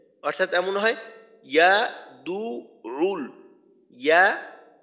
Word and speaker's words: يدع: أرأيت الذي يكذب بالدين আচ্ছা দ্বিতীয় আয়াত فذلك الذي يدع اليتيم فذلك الذي يدع اليتيم এইখানে ফাযালিকা আল্লাযী ইয়াদুরুল ইয়াদুরুল ইয়া এর উচ্চারণটা মাখরাজ থেকে করা, আর আইনের উচ্চারণটা এটা এখানে দুইটা।